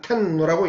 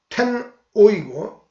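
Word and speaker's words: 天皇: 이 하늘 천자는 음으로 읽고 황은 뜻으로 읽은 것이 텐오이고 이것이 보다 편안하게 관형된 것이 텐노가 되었다.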